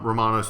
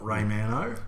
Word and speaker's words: Romano: I think that Romano's spelled with an O. It is. It's Romano, not Raymano.